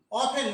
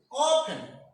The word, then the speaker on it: often: Often means many times, not sometimes, many times, again and again maybe. And the pronunciation is often, not the often. You remember there is a silent T.